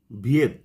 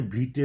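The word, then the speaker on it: Viète: যে ভদ্রলোক ব্যাখ্যা করেছিলেন তার নাম হল François ভিয়েত এফ আর এন সি ও আই এস বা ফ্রাঙ্কোইস আমরা এরকম উচ্চারণ করি কিন্তু এর আসল উচ্চারণ হচ্ছে ফ্রান্সুয়া আর ভিয়েত ভি আই ইটিই এটাকে আমরা অনেক সময় ভিটে উচ্চারণ করি।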